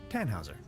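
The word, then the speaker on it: Tannhauser: why what's your name Tann Hauser we'd pronounce it with an umlaut German roots yes my grandpa is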